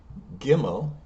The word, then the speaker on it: Gimel: So if we keep going forward, Gimel, G represented G in English.